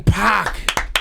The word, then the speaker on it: Paak: So it became PAAK, PAAK, but it's pronounced PAAK. It's supposed to be the Korean way to pronounce it.